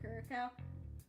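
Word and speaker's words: Curaçao: Oh, that's pronounced like Curacao.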